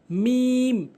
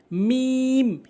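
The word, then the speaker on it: ميم: মিম মিম ভুল উচ্চারণ, মিম ভুল উচ্চারণ, সঠিক উচ্চারণ হচ্ছে মিম মিম।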